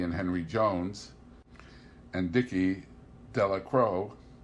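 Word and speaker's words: Delacroix: Henry Jones and Dickie de la Crowe the villagers pronounced his name deliquary eventually made a great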